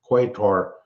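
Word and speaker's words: Qatar: I don't know why they started calling it cutter.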